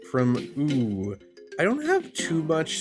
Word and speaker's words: Öoo: Okay, this first time I say it, I'll say ugh because of the umlaut O. However, I think it's just supposed to be O. I think it's supposed to be ooh.